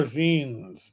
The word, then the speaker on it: zine: I used to call them zines because they are spelled like vine, but with a Z. But apparently they are zines because it's a shortening of magazines.